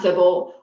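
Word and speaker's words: tsibble: fees and fable um and yes it is pronounced civil um dr wong who i believe is the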